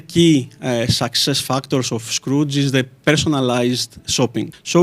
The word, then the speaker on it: Skroutz: Dimitri sideridis the head of international marketplace at Scrooge am I saying it right is it very